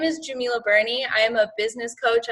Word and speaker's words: Djemilah Birnie: and clarifying that um so my name is Jamila Bernie I am a business coach I'm a neuro